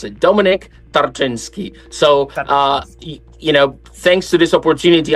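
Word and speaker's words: Tarczyński: Is that right, Tarczynski? It's not easy to pronounce it. It's Tarczynski, but I know that you have a lot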